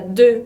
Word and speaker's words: deux: Otra letra que no se pronuncia es la T, otra es la S, otra es la X, como en la palabra deux, por ejemplo, deux, que significa dos, con esa combinación de EU, deux, con X muda.